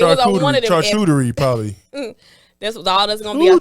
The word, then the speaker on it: charcuterie: And a charcuterie board. Is that how you say it? How you say it? Charcuterie. How do you say it? Charcuterie. No, you said something about coochie.